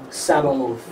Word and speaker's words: Sabaoth: Sabaoth.